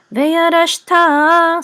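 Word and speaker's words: וירשת: So veyarashta. So accent is on ta.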